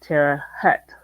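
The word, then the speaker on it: Terre Haute: pronounce it correctly well it's like o with an H in front although some people have been known to call it Tera Hut locally um for some reason I've always pronounced it as if it had an au in the middle I have never heard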